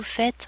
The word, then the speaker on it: faites: It ends in es, and we don't pronounce the ending on this verb form.